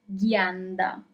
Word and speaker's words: ghianda: So here, for example, you have G-H-I, you have the sound G because you have G-H, and then you have E, that is I in English, but in Italian it's E, never forget about it.